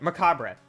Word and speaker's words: macabre: I learned how to pronounce this and I can't forget. Macabre.